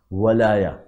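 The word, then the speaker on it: ولاية: ولایہ کا لفظ آیا وہ واو پر زبر کے ساتھ آیا ولایہ. چونکہ اردو میں تلفظ ولایت ہے اس لیے میں اس کو ولایت عرض کر رہا ہوں ورنہ ولایہ آیا ہے عربی کے اندر.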